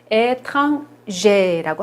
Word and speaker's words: étranger: 요거는 발음을 étranger라고 합니다.